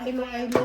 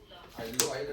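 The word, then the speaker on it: Iloilo: Ilo-ilo na din na ilo-ilo, oy. Korean lang tayo. Eh, paano may nag-comment? Aylo dati yan eh.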